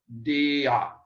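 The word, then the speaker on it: δια: It is this would be pronounced die because this is a Greek diphthong, I, alpha iota, but this is pronounced dia. Each vowel is pronounced because it's not a diphthong.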